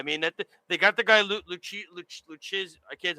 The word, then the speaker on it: Lucchesi: I mean, they got the guy Lucchesi. I can't. How do you say his name? Lucchesi.